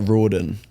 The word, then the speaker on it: Riordan: You say it like Roen. Oh, yeah. It's like It's like Jordan but with an R. That's how I explain it.